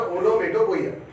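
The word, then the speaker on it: onomatopoeia: कई लोगों से ओनोमेटोपोइया जल्दी जल्दी बोलते तो पता नहीं चलता है, लेकिन प्रॉपर प्रोनाउंसिएशन है ओनोमेटोपोइया।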